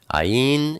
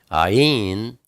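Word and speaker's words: עין: Ayin is the number 70. It's pronounced, it's a guttural kind of a G. Or sometimes it's pronounced Ah, like Abba. And sometimes it's pronounced like a Y, like Yahshua.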